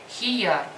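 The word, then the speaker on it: خيار: Хияр.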